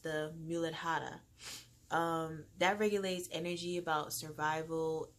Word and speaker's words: Muladhara: It's pronounced the Muladhara.